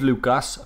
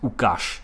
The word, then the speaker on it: Łukasz: I know his name's Lucas, but I've heard from the man himself, Fabianski, that you pronounce it Łukasz.